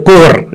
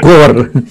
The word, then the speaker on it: corps: The military pronunciation is they call it the core. Instead, they don't call it corpse, they just call it core.